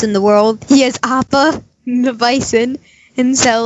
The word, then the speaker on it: Appa: Is it Appa?